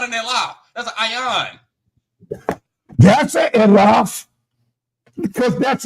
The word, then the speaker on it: ayin: Sir, right here is an ayon in the yard. It's not an elaf, so you can't get a ah sound. It's an ayon. The city for I is that's the way I pronounce it. Ayon.